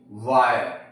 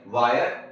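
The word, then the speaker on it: wire: इसको हम फीरे नहीं बोलेंगे। इसको वीरे नहीं बोलेंगे। इसको हीरे नहीं बोलेंगे। इसको फायर वायर और हायर बोलते हैं।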